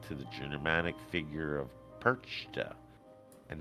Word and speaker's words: Perchta: Holda is also related to the Germanic figure of Perchta, and that's spelled just like the fish, perch, the T-A.